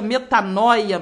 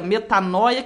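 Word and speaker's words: μετάνοια: no nosso novo testamento esta palavra ela se pronuncia metanóia metanóia que significa mudança de mente mudança de pensamento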